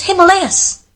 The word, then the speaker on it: Himalayas: like, that's not the way you pronounce it, it's Himalayas.